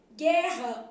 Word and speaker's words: guerra: interessante encontro consonantal perfeito guerra u não é pronunciado e o RR também então aqui eu tenho dois